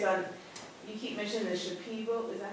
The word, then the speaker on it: Shipibo: So I was just more curious on, you keep mentioning the Shipibo, is that how you say it? Shipibo.